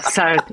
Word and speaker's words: Southside: It's called Southside or Southside. Where I grew up, we say South. It's just a thing. That's how we pronounce it. It's called South.